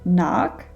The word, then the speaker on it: knock: to the silent k often when the k comes before an n then the k is silent for example knock know and knights now the silent l